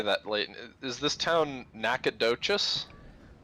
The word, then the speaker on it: Nacogdoches: do you say that leighton is this town nacogdoches nacogdoches yeah that's a hell of a name is